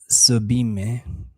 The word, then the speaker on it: Sublime: It's pronounced Sublime.